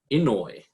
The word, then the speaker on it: Inouye: And we have our Kirkland Lake campus manager, Drew Inouye. Am I right? Am I pronouncing it correct? Inouye, yeah, that was pretty good.